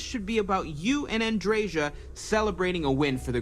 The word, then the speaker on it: Andreja: Okay, so you do pronounce the J, Andreja.